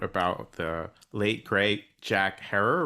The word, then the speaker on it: Herer: the late great Jack Herer rhymes with Terror and also a more